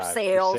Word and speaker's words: Versailles: sale North they call it's spelled Versailles but it's north for sales sales yes I just that's